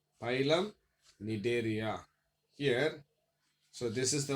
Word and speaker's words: Cnidaria: The next topic is the one phylum Cnidaria. Phylum Cnidaria. Here, so this is the one second phylum of invertebrates. See, come as a silent one. Pronunciations Cnidaria.